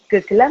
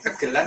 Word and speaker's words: gegelan: Gegelan atau gegelan? Sama aja keduanya, kegelan atau gegelan sama.